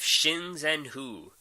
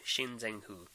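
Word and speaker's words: Xing Zhen Hu: So I'm going to go with Shinzen-Hu. For those who can't pronounce it, it's the one that begins with Xing. Shinzen-Hu.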